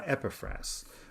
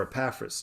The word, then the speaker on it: Epaphras: to be founded by epifras or epaphras depending on how you want to pronounce his name paul wants to assure